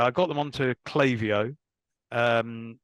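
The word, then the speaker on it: Klaviyo: on to clavio um not clavio by the way clavio um there you go that's another St story for another day um how to choose a choose a brand name that no one can pronounce but it is clavio um and that was an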